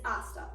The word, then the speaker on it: hasta: words with this phrase the first word is hasta it is spelled like pasta with an H but H is silent in the pronunciation therefore it is pronounced hasta the second word is